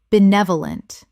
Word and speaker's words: benevolent: Benevolent. Four syllables with the stress on the second, meaning well-meaning and kindly.